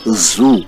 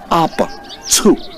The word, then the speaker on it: Abzu: And the truth, the right pronunciation is not Zoo, as in animal zoo. No, it's Zu. They pronounced the ZU as Zu.